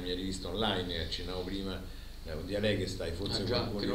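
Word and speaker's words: Dialegesthai: È scritto Dialeghe stai, però si legge alla greca, Dialeghe stai.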